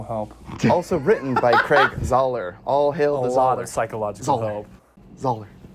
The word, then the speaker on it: Zahler: by none other than s craig zayler pronounced zoller i just learned that zoller all